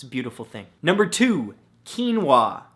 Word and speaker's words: quinoa: beautiful thing number two quinoa spelled ke en wuah no that's not how it's spelt at all but it should right come on English now the great thing about